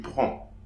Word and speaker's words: prends: Okay, so here I'm not pronouncing the DS. So, je prends.